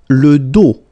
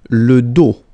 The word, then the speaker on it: dos: Le dos, final S not pronounced, okay? Le dos.